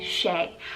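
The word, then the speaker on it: Shay: boy i love the name shea spell s-h-a-y shea i think it's so sweet and very timeless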